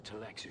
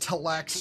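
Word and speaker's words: Tleilaxu: Collins has been acting real strange since finding that corpse with the Texu satchel. Oh, it's pronounced Taxio.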